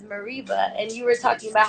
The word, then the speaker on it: Mereba: okay and the and the American Way pronouncing it is Mareeba and you were talking